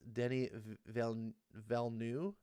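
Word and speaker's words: Denis Villeneuve: okay um you say his name wrong his pronounce denny valeneu yeah actually put a v at the at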